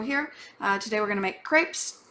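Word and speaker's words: crêpe: today we're gonna make crepes technically pronounced CREP but I'll get over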